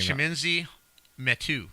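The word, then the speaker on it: Chimezie Metu: Chiminzi Metu.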